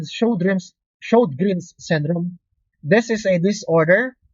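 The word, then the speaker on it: Sjögren: SLE, we have the Sjogren's. That is how we pronounce that. Hindi po Sjogren's. We pronounce it as show, as in show, palabas, greens, Grin.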